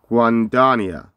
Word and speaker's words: Guanduania: got a video here three seconds long okay pronunciation say it again Juan Dania I think he said guandania is that right guandania yeah I guess I'm close enough so this